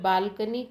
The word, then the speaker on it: balcony: For example, the word balcony currently has a stress on its first syllable, and this is what